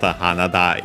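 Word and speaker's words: 花: Hanada Iro. Hanada on its own is technically a compound word from Hana, flower, accent on the last more.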